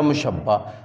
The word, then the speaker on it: مشبہ: तो आप जब मीम लगाएंगे तो ये हो जाएगा मुशब्बा, तो ये मुशब्बा इसको पढ़ेंगे हम।